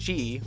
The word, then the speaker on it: Qi: Then here I'm going to be showing the I think it's pronounced G wireless charging, QI wireless charging, and for this Samsung Galaxy S6 it works fantastic.